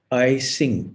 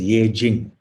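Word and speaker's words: Yijing: I think they call it I-Sing, E-T-S-I-N-G, but I think it's pronounced as Ye Jing.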